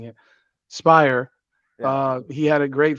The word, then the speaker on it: Speyrer: I keep mispronouncing it. Spire.